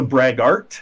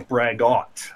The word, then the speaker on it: braggot: That's a braggart. Oh, okay. This is a braggot. Okay. So no R.